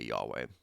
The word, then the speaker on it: Yahweh: is what it's called, YHVH or YHWH, which is why we say Yahweh.